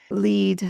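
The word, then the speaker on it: lede: confusion about the word lead. L E D E lead L E D E why it's spelled strangely like that is to differentiate it from L E A D which is lead and that was actually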